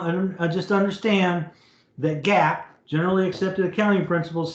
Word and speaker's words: GAAP: are going to learn gaap just pronounce it gap okay and that's generally